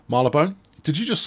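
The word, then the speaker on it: Marylebone: quite a nice station marlon burns was it's not it's uh marla bone did you just say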